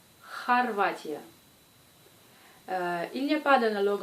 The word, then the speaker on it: Хорватия: Comme dans le mot Хорватия. Хорватия.